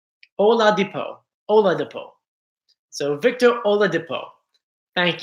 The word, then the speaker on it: Oladipo: So thank you for phonetically writing it out for me. So Oladipo. Oladipo.